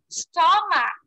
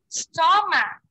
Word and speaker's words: stomach: Stomach. Again, stomach. What letter is the silent letter here in the word? Again. Stomach. Yeah. Again, stomach. What letter is, okay, very good. It's letter H.